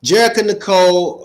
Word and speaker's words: Jerrica Nicole: So, Jerica Nicole, um, is that the correct pronunciation of your name?